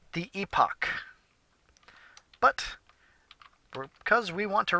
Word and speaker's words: Epoch: the game that's good I actually pronounced it wrong it's pronounced epoch EP OCH but for some reason I was pronouncing an epic so I thought a